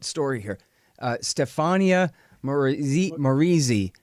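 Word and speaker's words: Maurizi: in another important story here uh stefania moriz morizzi right something like that help me out say it right for me stefania moritzi okay yeah so i can't even say anyway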